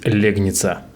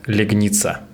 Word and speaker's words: Легница: в городе легница и везде я буду говорить легница а правильное ударение в названии этого города легница Всем привет С вами